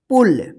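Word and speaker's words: pull: मैं बोला था ना कि इंग्लिश जैसा लिखा हुआ रहता है वैसा उच्चारण नहीं होता है। देखिए यहाँ पे पी यू डबल एल पुल, पी यू एस H push.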